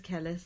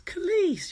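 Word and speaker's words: Kelis: Jack says Kellis as well. It's Khalees, you weirdo.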